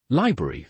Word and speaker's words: library: Library and February are common traps. Yes, often people emit the first R in library and February can lose its first R sound too.